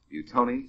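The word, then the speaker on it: Buitoni: That's spelled B UI T O N I. Buton specini.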